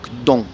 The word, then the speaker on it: 东: Et l'est en chinois ça se dit dong. Alors au-dessus c'est le caractère en chinois, en dessous c'est marqué en pinyin et à droite entre parenthèses c'est le mot en français est, donc dong, D-O-N-G, dong.